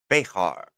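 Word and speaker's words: Bexar: Texas anyways um it's spelled beer but they pronounce it bear bear Ah that's yeah I know you're talk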